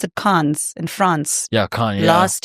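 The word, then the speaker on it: Cannes: My husband went to is it do they pronounce it Khan's in France?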